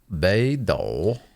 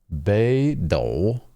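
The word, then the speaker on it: Beidou: yeah get it clear but ba B do B do awesome B is north and do is like a to fight oh awesome B do mhm a playable electric awesome yeah she's a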